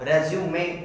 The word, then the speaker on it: resume: एक साइड तो इसको बोला जाएगा रिज्यूम और एक साइड इसको बोला जाएगा रेज्यूमे।